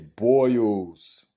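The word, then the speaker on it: Boyles: of the L but it's pronounced as boils boils say it with me boils dogs not Bulls dogs but um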